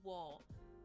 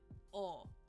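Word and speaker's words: を: O is another exception here. We don't pronounce it wo. We pronounce it o.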